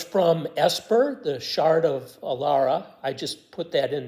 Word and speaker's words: Alara: esper The Shard of Alara I just put that in there uh dual brain MTG pronounces it alera which is maybe correct too um I'm not sure